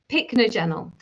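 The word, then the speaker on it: Pycnogenol: one that I'm excited about is picnogenal which is spelled p y c n o ge n o l. Picnogenel.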